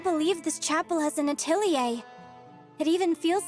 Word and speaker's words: Atelier: They pronounce it Atelier. But considering it's French, I wouldn't be surprised if they pronounced it Atelier.